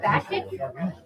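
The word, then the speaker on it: Bakić: How do you pronounce her last name? Baktic.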